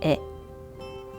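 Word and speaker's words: へ: By the way, these two characters originally pronounced ha and he, but when they used as particles, pronounced wa and e.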